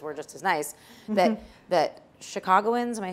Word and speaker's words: Chicagoans: That Chicagoans, am I saying it right?